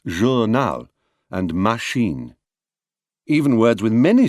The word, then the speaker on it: machine: pronounce them journal and machine the French give them their characteristic equal stress joural and machine even words with many